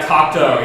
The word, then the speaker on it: Cocteau: Oh yeah, Cocteau. Yeah, Cocteau, that's how you pronounce it.